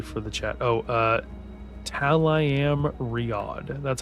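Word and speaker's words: Tel'aran'rhiod: Oh, uh, Talam Riod. That's how it's pronounced.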